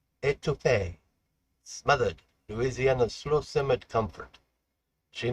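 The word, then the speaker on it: étouffée: Uh soon Louisiana word for the day is et pronounced etu smothered Louisiana's slowimmit comfort.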